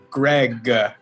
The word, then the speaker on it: Greg: pronouncing my own name is greg people are like gray or gray like no greg but uh so greg or